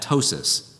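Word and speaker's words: ptosis: fold we call that tosis PT o s i s the p is silent but droopy breasts add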